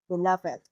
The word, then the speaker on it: beloved: Compare it with this: Here, beloved is an adjective. The "-ed" is pronounced as /ɪd/.